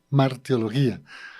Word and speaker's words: hamartiología: la parte etimológica y siempre uno pronuncia la H como la hacemos en español pero el pastor nos indicaba que es con la J mar teología e el pastor se